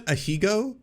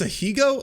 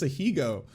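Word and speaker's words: ahegao: really it put her wait that's how you pronounce that a hego it's it's a hugo i thought it was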